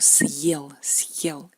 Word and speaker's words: съел: Por ejemplo, съел, él comió, ha comido, ¿no? Por ejemplo, si quitamos este signo duro, aquí tenemos сел, es él se sentó. Es un verbo diferente, сел. No queremos сел, tenemos que decir съел, ¿no?